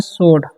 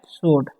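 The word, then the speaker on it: sword: उसी तरीके से इसे पढ़ेंगे सोड, क्या पढ़ेंगे सोड, यहाँ पर W का उच्चारण नहीं होता है, ठीक है, सोड पढ़ते हैं।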